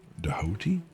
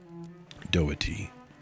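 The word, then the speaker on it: doughty: Doi Doati. It's Doy. Yes, Doy was probably fine.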